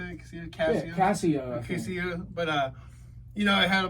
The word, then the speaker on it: Casio: I got a keyboard, one of those little Casillos, when I was really young. Casillos. One of those Casillos, or however is that how you say it? Casio? Yeah, Casio.